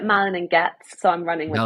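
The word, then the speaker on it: Malin+Goetz: don't know how you malan and goet is that how you pronounce it I mean the team call it Malin and gets so I'm running with that Mal and GS okay malan and GS I personally have a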